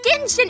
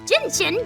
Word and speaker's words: Genshin: playing gentian impact okay first off it's tension impact just cause someone says it as jinjin doesn't mean it's pronounced like that objection young man your